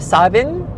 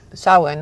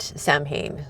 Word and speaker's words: Samhain: Um, so those who are witches in the no will say sawin or savin and not sam hayne is how you can tell the outsiders.